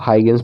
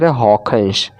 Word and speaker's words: Huygens: सब हाइगेंस पढ़ते हैं, लेकिन इसका सही प्रोनाउंसिएशन है हॉकेंस, हॉकेंस। यानी ये जी जो पढ़ा जाता है वो ख पढ़ा जाता है ये डच लैंग्वेज में।